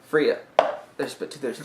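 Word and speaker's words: Frigga: gonna say her name Friga Fria Fria there's but two there's two G's um G's are like there's they're silent it sounds like Freya it's north it's north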